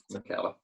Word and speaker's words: Nketiah: Nketiah, is it? Yes, that's it. Yeah. Nketiah.